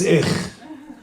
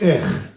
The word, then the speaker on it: ich: In Yiddish, to say I is ich. It's ich.